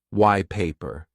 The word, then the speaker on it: white paper: it is quite common another example of sound change is white paper why paper so I kind of say white paper but because I'm connecting it's even like one sound it's not white paper white paper is British